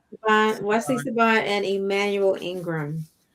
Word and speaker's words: Siobhan: Saboan, Siobhan.